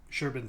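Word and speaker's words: Șerban: is basically you know sherban style right why do I say sherban because it's it's Romanian it's spelled serban but like sherban I think is how it's pronounced he probably just goes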